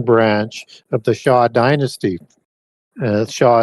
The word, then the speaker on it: Xia: Shah is spelled Xia.